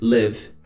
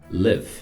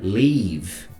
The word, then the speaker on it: live: People não costuma ser uma palavra problemática para brasileiros, mas live é. Tá ok? So, repeat. Live. Ok. Live. Cuidado para não falar leave, porque é um outro verbo, é o verbo ir embora.